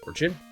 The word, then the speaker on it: orchid: Orchid. I can't remember how to say this word. Hang on. Orchid. Okay, it is just kid.